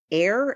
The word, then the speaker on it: Eyre: and the director is Chris air it's spelled like Jane Eyre e-y-r-e okay um I just